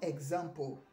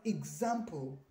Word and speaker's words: example: Then the fourth one is, it is not example, it is example. Okay, example. The I sound, replaces the E during pronunciation.